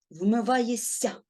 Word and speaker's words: вмиваєшся: вимові вони можуть уподібнюватися вмиваєшся що ми чуємо вмиваєся так сл свистячий впливає на попередній шиплячий І вони обоє стають свистячими Ми чуємо подовжений с і навпаки шиплячі впливають на